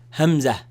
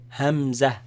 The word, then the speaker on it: همزة: The sound actually comes from where the vocals begin, the that sound, cutting sound. But the name of this letter is Hamza. Hamza. Hamza. It's not like the name Hamza with a ha, but